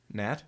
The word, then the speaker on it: gnat: Nat.